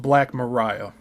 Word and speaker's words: Black Maria: Maria end quote and it says it's pronounced black Mariah a building with a retractable roof that was also cleverly designed to rotate on a massive turntable.